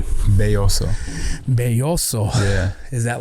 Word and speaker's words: Belloso: cool how do you say your last name boso boso yeah is that like what does that